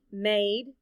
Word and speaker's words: made: Made. Look at the letters in the word. Let's spell it out loud. M-A-D-E. The letter A stands for the long A sound, and the E is silent.